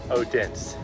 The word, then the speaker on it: Odense: Odense.